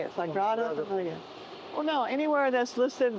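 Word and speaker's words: Sagrada Família: Sagrada Familia, that's how you say it, Sagrada Familia.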